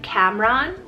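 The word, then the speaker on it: Kamran: i have for you guys is the name cameron k-a-m-r-a-n or i can do like camron you know a little bit of that different pronunciation there it means prosperous or successful so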